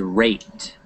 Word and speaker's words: rate: Now, and the E is silent.